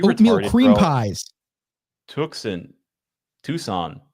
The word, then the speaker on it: Tucson: Is it actually Tucson and not Tuscan? No, well, cause then it would be Tuscany.